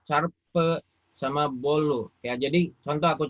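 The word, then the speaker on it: çarpı: Ya, ini cara bacanya, lihat ini. Di bawahnya ada arte, eksi, carpe, sama bolu.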